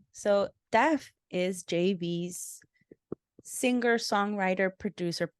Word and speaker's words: DEF.: It's DEF in case thank you. sounds like sounding death. like death. Yeah. Right. That's my bad. Def. So Def is JB's singer, songwriter, producer persona.